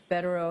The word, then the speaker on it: Bederow: because Mr bero had is that how you pronounce his name yes bero has specialized skill and